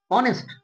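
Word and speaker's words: honest: খুব বেসিক আর কি অনেস্ট আমরা কি বলি অনেস্ট না অনেস্ট অনেস্ট দেখ আছে এইচ কিন্তু উচ্চারণ কিসের মত হচ্ছে ও এর মত আওয়ার আওয়ার নয় কিন্তু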